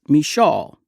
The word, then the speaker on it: Micheaux: between Black filmmakers like Oscar Micheaux, sometimes pronounced Michaud, and Noble Johnson in